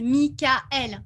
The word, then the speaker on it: Michaël: parce qu'on dit pas parce qu on le prononce à la française michaël donc on prononce le a et le différemment enfin séparément donc du coup on